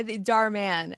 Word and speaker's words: Dhar Mann: Please correct me if I'm pronouncing this wrong. From Dhar Mann. Is it Dhar? Yeah, Dhar Mann.